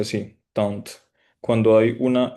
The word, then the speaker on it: tante: Tunt. Cuando hay una e después de la tuna, esa e, o sea, no se dice la tunte, sino que se llega hasta la t.